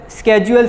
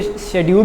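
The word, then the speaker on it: schedule: ठीक है, नीचे लिखा हुआ है स्केड्यूल स्कैन्स, को शेड्यूल भी पढ़ते हैं स्केड्यूल भी पढ़ते हैं, जो आप लोगों को इजी लगे आप वो पढ़ सकते हैं। दोनों इसकी प्रोनाउंसिएशन है, स्केड्यूल भी है और शेड्यूल भी है।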